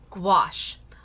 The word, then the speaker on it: gouache: So, gouache, again, I rhyme it with squash. Squash. Gouache. That's how I remember how to pronounce it.